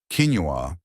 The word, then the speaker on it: quinoa: Quinoa, pronounced quinoa, is a simple, tiny grain that cooks up just like rice.